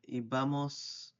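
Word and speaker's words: íbamos: So iba is the same, ibamos, with the accent on the I, ibais, and iban, they like went or they used to go.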